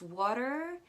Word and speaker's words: water: the same exact sound you can see that it's written water with tea or butter with double tea but in the american accent we don't pronounce those teas it's water and butter that's all for today